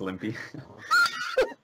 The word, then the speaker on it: Klimpy: The K is silent, it's just Limpy.